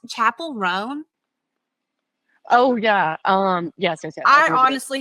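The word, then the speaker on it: Chappell Roan: I also, is her name pronounced Chapel Roan?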